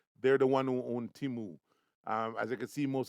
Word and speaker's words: Temu: And that's Temu, Temu. It's pronounced Temu.